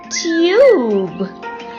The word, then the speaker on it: tube: Cub, cube. Hug, huge. Cut, cute. Tub, tube.